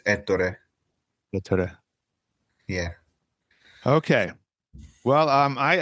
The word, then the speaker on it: Ettore: Ettore. What's the correct one? Well, I would say that one's pretty much correct for English, but in Italian it's Ettore.